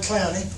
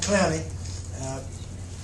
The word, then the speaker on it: Clowney: Obviously, we got some wonderful news this morning when Jadeveon Clowney, and that's the way it's pronounced, Jadeveon.